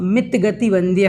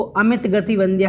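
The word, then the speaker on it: मितगतिवंद्य: आपको ध्यान रखना है परमात्मा मित गति वंद्य है, इसको अमित गति वंद्य नहीं बोलें।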